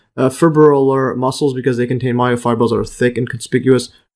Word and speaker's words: fibrillar: Let's see that again, pronunciation. Fibrillar flight muscles containing round individual myofibrils in red,